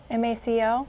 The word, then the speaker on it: MACo: We wanted to talk, is it pronounced MACO? The MACO? MACO, yes. MACO.